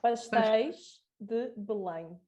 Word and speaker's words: Pastéis de Belém: Somebody please pronounce it correctly. No. Pastéis de Belém.